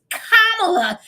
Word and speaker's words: Kamala: it had a fit it's kamla oh my God why they keep mispronouncing her name oh my God and